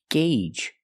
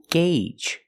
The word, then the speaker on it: gauge: name is jippy loop it's pronounced Gage that's right the Au makes a long a sound gagee the long a like in day and say and pay gagee the first G is a hard g-g sound followed by the